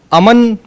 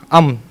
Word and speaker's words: امن: صحیح تلفظ اس کا۔ اور امن عام طور پر غلط العوام ہو چکا ہے، لیکن صحیح اس کا تلفظ ہے अमन।